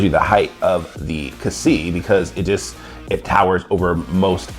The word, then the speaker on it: Xi: I call it the Kasee because it seems like that's the way that they pronounce it in Japan. I've heard it pronounced in the American dub as the Kasai.